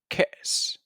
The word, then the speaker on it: كأس: We have glass, كأس, كأس. Repeat after me. كأس. So there's sukun above alif, so you have to make sure that you pronounce e.